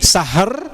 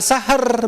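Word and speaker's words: شهر: Nah, maka di sini sahr, Ibu, ya. Kita bunyikan dulu huruf H-nya. Jangan sahar bacanya.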